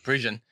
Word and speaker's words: Parisian: Parisian.